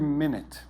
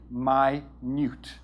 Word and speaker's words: minute: for example the word minute okay everybody knows time 60 seconds one minute 60 minutes one hour very easy word minut so it looks the same it's pronounced differently my Newt means tiny very very small okay so